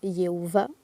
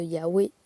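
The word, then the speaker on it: Yahweh: Le va n'existe pas dans l'hébreu à la base. Donc c'est un wau. Et donc il y a V, c'est pas possible. Yova, c'est pas possible non plus comme Jéhova non plus puisqu'il n'avait pas de J. Il n'y a toujours pas de J d'ailleurs. Donc cette lettre dans le nom de Yahwé et de tous les personnages bibliques antiques se prononcent W.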